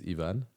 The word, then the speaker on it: Yvan: Like that's the most common one because like even in France, people can't pronounce my name properly. They say Yvan. Yvan. Because like the A and the N in French like sounds en, which is like a thing.